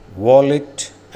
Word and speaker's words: valet: വാലറ്റ് ആൻഡ് വാലൈ.